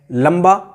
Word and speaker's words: लंबा: देखिए गुम्फन अगला उदाहरण लिया है, अगला उदाहरण फिर लिया है लंबा, बा के पहले अनुस्वार है तो भी माँ